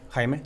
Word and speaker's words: Jaime: On February 15th, 2011, you and your partner, Jaime Zapata, is it is that correct? Himman Zapata. Hyman. Haime Zapata. Okay. I'm definitely want to say his name correctly.